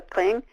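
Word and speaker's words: qeej: screen, you will see a gentleman playing the kling. Q-E-E-J is how you spell that instrument.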